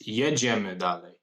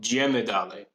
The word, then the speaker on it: jedziemy dalej: And also, it's jedziemy dalej, not jedziemy dalej. You're pronouncing it like an Italian.